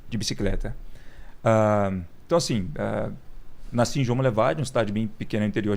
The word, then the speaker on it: João Monlevade: no rio não em Minas Gerais como chama João Monlevade duvido você conseguir pronunciar corretamente João Monlevade João Monlevade e isso vamos levar é perto